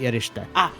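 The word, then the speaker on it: erişte: The Sedilla on an S in Turkish is sh, so that'd be Eriste. Oh, now I get to do the also, here's how you pronounce something.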